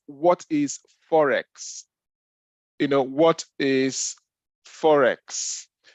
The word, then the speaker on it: Forex: pronounced it's not Forex sorry it's not Forest as in the bush is not Forest it's Forex you know foreign exchange